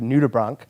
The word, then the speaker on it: nudibranch: this sea slug on it known as a nudibranch. So, good pronunciation.